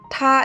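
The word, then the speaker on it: 她: Ucapkannya seperti ta atau ta di dalam pronoun bahasa Indonesia.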